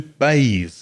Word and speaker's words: bathe: use the verb to bathe b-a-t-h-e you bathe your kids you bathe your children in the bath the vowel sound of that word is a another confusion was with